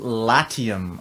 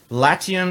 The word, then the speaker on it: Latium: into an ICO called Latium okay I get at least that's how I think it's pronounced lati um the website link